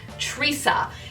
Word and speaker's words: Trissa: I believe you pronounce this wig as Trissa.